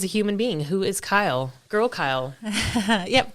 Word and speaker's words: Kyle: Who is Kyle? Girl Kyle. Yep, Girl Kyle. Yep. Pronounced just like the boy.